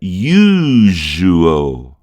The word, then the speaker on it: usual: Usual, que na verdade em inglês a gente pronuncia usual. Olha aqui novamente o L, é aquele L dos antigos que a gente deixa a língua mais para cima, né? No meio da boca.